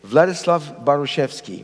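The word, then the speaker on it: Władysław Bartoszewski: I will try anyway vladislav bartosevsky that was not too bad what baruchevsky okay vladislav baruchevsky we have people who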